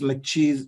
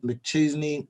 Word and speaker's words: McChesney: execution right and it's by chris mccheese mcchesney john chesney chesney yep and uh what did i say cheesy huh only one e um and jim hewling